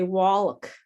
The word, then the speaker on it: walk: I have many students who say walk, walk, and that L is silent.